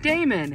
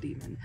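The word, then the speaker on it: Daemon: The A-E, when they're put together, is also what is what Demon used to be pronounced as, was A-E. And so I've seen plenty of people be like, Damon! It's like, no, it's actually pronounced Demon.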